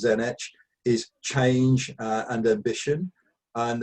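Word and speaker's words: Tzeentch: war and blood thirstiness one which i will always pronounce wrongly i pronounce it siege but i think it's zenitch is change and ambition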